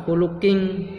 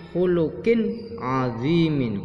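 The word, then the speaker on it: خُلُقٍ عَظِيمٍ: Khulukin azimin, qin azimin, bukan khuluking tapi khulukin azimin karena idhar, tanwin bertemu ain.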